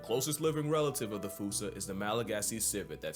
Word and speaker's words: fossa: Anyone who had a childhood like mine would pronounce it the same way I've been doing. But if you follow the Attenborough rule, Sir David would have had you saying Fossa.